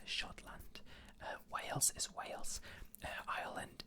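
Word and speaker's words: Schottland: scotland we're from scotland it's just s c h o double t l a and d uh shotland uh whales is wales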